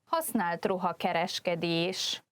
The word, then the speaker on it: használt ruhakereskedés: This entry, használt ruhakereskedés, could be difficult to pronounce because it's quite long, but just practice by first saying these 2 parts on their own. Használt ruha and then kereskedés. So altogether it's használt ruha kereskedés. There is also a shortened